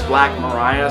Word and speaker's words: Black Maria: which I would assume would be pronounced Black Maria but instead he sings it as black Mariah so I guess that's how